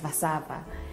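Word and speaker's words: Warszawa: the capital city is called warsaw generally they pronounce it as vasava the people are known as the polish and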